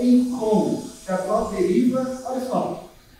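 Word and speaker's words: εἰκών: Então, quando você vai pesquisar o grego, tem a palavra eikon, ou alguns até pronunciam ícon.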